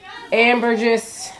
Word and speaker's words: ambergris: Yeah, ebony, benzoin, musk, ambergris. Ambergris. No, don't pronounce the S.